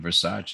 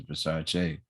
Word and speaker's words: Versace: And it's not even Versace, it's Versace. Like they don't even know how to pronounce that.